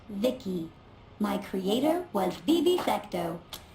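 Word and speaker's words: VICI: guns by the way i'm the ici pronounced vicky my creator was bibi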